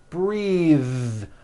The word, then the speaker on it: breathe: suit breathe same thing breath is a noun take a breath unvoiced but when you change it into a verb the vowel changes and it becomes breathe I am breathing with a voiced th now let's do some